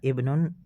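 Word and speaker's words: ابن: pertama ya betul sekali cara bacanya adalah Ibnu Muhammad Hamzah pada kata Ibnu yang pertama dibaca karena dia terletak di awal kalimat yaitu tidak ada kata atau huruf yang mendahuluinya sedangkan huruf hamzah pada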